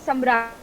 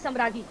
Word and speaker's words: Samragi: name is Samragi. Right. All the Bengali people I meet pronounce it out as Samragi.